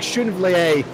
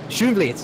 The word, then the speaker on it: Schoenvliet: It looks like Schoenville has got the better grunt coming out of turn 2 though. Schoenvliet, sorry. Schoenvliet. We're going to work on the pronunciation. Schoenvliet.